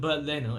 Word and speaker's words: Bernd Leno: I always thought it was spelled Bernard Leno, but you pronounce it BERND LENO as if it's some sort of German thing.